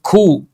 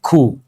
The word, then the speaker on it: coup: And coup, the letter P is silent.